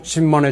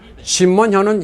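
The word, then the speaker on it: 金門: 진먼다오는 한국어 발음으로는 금문도입니다. 진먼은 킨먼이라고도 합니다. 영어로는 쾌모이라고 합니다.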